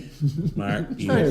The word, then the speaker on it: Bussey: Say it like Gary. Gary Busey. Busey.